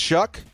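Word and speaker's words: Shough: It's pronounced Shuck. Really? No, it's not. Is it really? Tyler Shuck?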